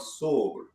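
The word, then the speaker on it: SOAR: So uh we had a whole you know generation of tools called sore and it's it's spelled spelled s o a r but it actually s o r e and for for 10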